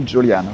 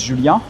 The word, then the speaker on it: Julien: But because I'm French, you know, my name is with the E. It's Julien with the E. So in French we say Julien. The right pronunciation is Julien.